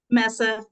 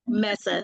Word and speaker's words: Meza: last name what is your last name again Messa it's just really short Messa okay see I was gonna I I don't